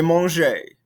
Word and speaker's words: mangé: However, we don't pronounce that E sound because there's no accent, and now, with the past participle, there is an accent, so we need to pronounce it. Je mange, present tense. J'ai mangé, past tense. Mange, manger. So there is a difference in how you pronounce these. We need to be pronouncing that E with an accent aigu now.